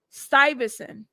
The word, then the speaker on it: Stuyvesant: See, that's one thing I do like about Google is their pronunciation. Stuyvesant.